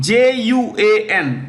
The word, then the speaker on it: Juan: is the Secretary General of icao right Juan j-u-a-n I'll spell first j u a n okay it's pronounced Juan Spanish Juan Carlos c a r